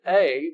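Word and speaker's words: εἰ: word is actually we we pronounce it a but it's e i and that's means that's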